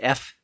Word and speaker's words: Eph: The main character is pronounced F, E-P-H.